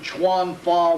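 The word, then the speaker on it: 拳法: The Japanese take a look at these and pronounce them chuan fa, which means fist law.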